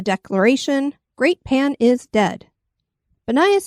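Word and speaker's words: Banias: great pan is dead banayas is the Arabic pronunciation of the Pagan cult city known as panius as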